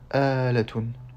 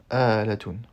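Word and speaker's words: آلاتٌ: Donc ce mot se prononce bien Alatun.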